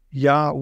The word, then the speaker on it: Yah: it would be ye now we know it should be yah because of the short form so yah is something in Hebrew